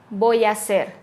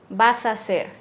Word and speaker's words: hacer: a hacer suena a voy a hacer la a y la ha de hacer se juntan y suena como una sola voy a hacer vas a hacer suena vas a hacer vas a hacer va